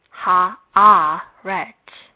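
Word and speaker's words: הָאָרֶץ: Hence, it is pronounced in the following way: ha-a-ret.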